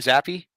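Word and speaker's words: Zappe: Is that how you say his name, Zappi? Yeah, but a lot of people pull the Zappi.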